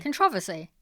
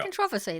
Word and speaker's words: controversy: my friend Carl can make fun of me controversy yeah see there you go controversy that's how you pronounce the word there's nothing wrong with that